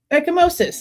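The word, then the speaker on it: ecchymosis: Let me see how to say this word right. I sounded like a big old dummy. Oh my god. Echimosis. I was saying it right.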